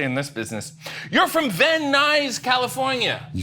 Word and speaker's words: Van Nuys: You're from Van Nuys, California.